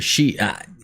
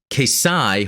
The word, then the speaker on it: Xi: And the answer was, it's Greek. Kesai, hard X sound. Don't ever trust the pronunciations in a dub. It's not intended to be Z, Zai, or Chi.